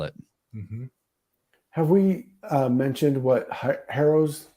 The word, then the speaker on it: Harrow: was thinking about how harrow if you drop the h a lot of languages if there's an h in there before a vowel is silent anyway it's the arrow it's the toxo right